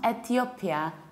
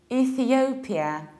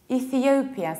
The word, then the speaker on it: Ethiopia: It's not Ethiopia, it's Ethiopia, Ethiopia. So you have E, then th, and then you need to round it.